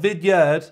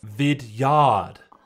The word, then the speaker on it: Vidyard: Vidyard. Not Vidyard. You're saying it wrong. It's Vidyard. Vidyard.